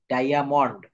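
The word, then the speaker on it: diamond: থাকবে এভাবে ওয়ার্ড গঠিত হলে আই এ এর উচ্চারণ আইয়া হয় আইয়া যেমন ডাই আলগ ডায়ামন্ড ডায়ামন্ড শব্দের অর্থ হচ্ছে হিরক অর্থাৎ আমার নিয়মটা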